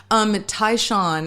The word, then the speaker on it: Tai Shan: Tai Shan is how you pronounce my last name.